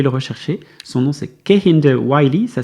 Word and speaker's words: Kehinde Wiley: si vous voulez le rechercher son nom c'est kind the wiy ça s'écrit k e h i n D E